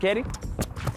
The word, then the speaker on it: CAWDY: we call mission accomplished your boy CAWDY pronounced Kerry Zarinda Oh yes, Mfethu, namhlanje we're talking about Beauty and the Beast.